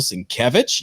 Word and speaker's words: Sienkiewicz: We've got an artist spotlight of Bill Sienkiewicz.